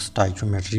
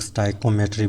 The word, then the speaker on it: stoichiometry: Pronoun करना चाहते हैं, कुछ लोग स्टोइचियोमेट्री बोलते हैं, कुछ लोग स्टोइकियोमेट्री बोलते हैं, तो जो आपको इजी लगे उस तरह आप लोग प्रोनाउंस करें।